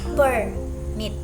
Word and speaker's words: permit: Noun stress on the first syllable. First stress on the second syllable like for the example like okay here's the example I will use permit in a sentence like do you have a permit it's a noun it's